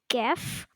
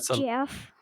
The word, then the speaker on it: Jeff: my name right not it's not geff these two say it like geff yeah Jeff you better say it correctly that's a little bit